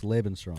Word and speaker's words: Lebensraum: I swear to God, it's Lebensraum.